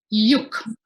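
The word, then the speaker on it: yuj: Yuk, it is how it's said in Sanskrit, meaning to join, to unite.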